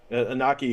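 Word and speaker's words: Iñaki: Inaki, who plays Luffy.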